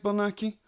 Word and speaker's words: Bernacchi: Did I pronounce that correct, Bernacchi?